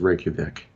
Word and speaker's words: Reykjavik: No, I'm not a linguist, but I'm 95% sure that says Reykjavik. So like the J would be pronounced as a Y.